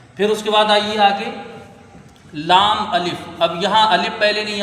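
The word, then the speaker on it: لا: फिर उसके बाद आइए आगे लाम अलिफ।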